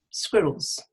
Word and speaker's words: squirrels: Squirrels, and the stress is on the squid. Squirrels.